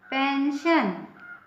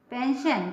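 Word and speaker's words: pension: Russia P ई एन एस आई ओ एन पेंशन है ना पेंशन पेंशन मीस सेवा निवृत पेंशन या जो ड्यूटी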